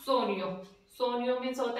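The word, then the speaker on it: sogno: वैसे मैंने बताया था जी और एन, जी एन जहां भी साथ में आ जाएंगे उसका न की ध्वनि देंगे, वो न का उच्चारण न पढ़ेंगे उनको।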